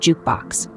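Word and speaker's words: JKBX: the SEC approval of jkb X pronounced jukebox a way for investors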